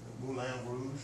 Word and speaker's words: Moulin Rouge: Now, what does everybody say? Moulin Rouge. Oh, the Moulin Rouge. Well, that's not how they say it in France. They say Moulin. Moulin Rouge. But when we hear Moulin, we think, oh, we have to say it like the French. Moulin. And so we're doing another vowel shift.